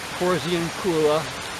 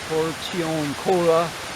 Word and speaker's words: Porziuncula: So the little chapel at Porziuncula, or Portioncola, depending on how you want to pronounce it, is another pilgrimage site.